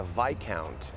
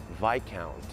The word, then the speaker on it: viscount: Outra palavra é Viscount. Tu visconde? Viscount.